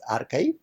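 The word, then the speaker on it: arXiv: archive it is spelled as a rxiv but pronounced as archive that was started in 1991 by Paul jinpark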